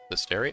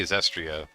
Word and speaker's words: Zestiria: Zestiria? I probably I have a horrible habit of mispronouncing some of these names. Because I say Zestria, like, by habit.